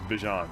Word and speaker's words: Bijan: been pronouncing your name how you pronounce my name is is Bijan okay that's how you say my name but I say I say Bijan okay um and I